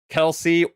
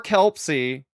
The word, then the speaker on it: Kelpsey: We're going to learn more about Kelsey or Kelpsy. Interchangeable. Interchangeable. We're gonna learn is silent. The P is silent.